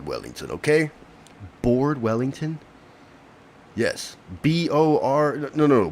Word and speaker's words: Beard: Don't call my My real name is Bor Wellington. Okay. Board Wellington. Yes. B O R.